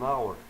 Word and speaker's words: hour: Attention, dans quelques mots commençant par H, celui-ci n'est pas prononcé. Donc, on devrait utiliser N en avant. Exemple, an hour, an honor.